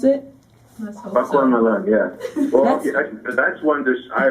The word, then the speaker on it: Bakwan Malang: It was Bawang Malang. Is that how you pronounce it? Bakwan Malang, yeah.